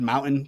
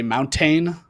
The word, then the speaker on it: mountain: to say the word Mountain correctly you're not supposed to say the T I would always say mountain or mountain and he uh you